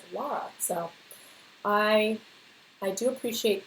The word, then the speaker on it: Lara: up her name was Lara spelled l a r a like in Dr shago and people are always calling her Laura and it's like no it's Lara so I I do